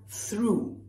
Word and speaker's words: through: And finally, you have through. And honestly, I could only think of broom, which is spelled the same way.